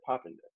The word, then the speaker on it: Poppenden: So Gifford asked her, like, how, just to be clear, how do you say your last name phonetically? And she said Poppenden.